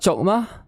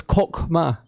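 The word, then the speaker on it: Chokhmah: It's not Chokma, it's Kokma. It's like Kokma.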